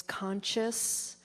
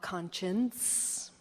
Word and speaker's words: conscious: And uh one particular time it was uh uh honey, it's it's conscious, not conscience.